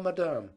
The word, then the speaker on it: madame: said be seated please i will tell madame putting the accent on the second syllable where peter had never heard it before and presently here came